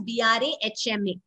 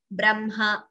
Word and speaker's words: Brahma: But that is how we pronounce it as Chinha, Madhyanha, Brahma. So there is no mistake. These are the words you should remember that we pronounce as Brahma, though we write ha and ma.